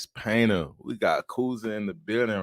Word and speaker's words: Kouza: I want to make sure, just to clarify, I pronounced that right. Is Kouza? Yeah, Kouza.